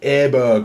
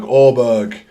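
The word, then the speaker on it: Åberg: big names there ludvig aberer orberg as they pronounce it again I'm going to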